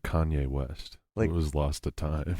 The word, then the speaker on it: Kanye: friends from high school does not pronounce Kanye West's name correctly on purpose how do they pronounce he calls him kane west Kane that is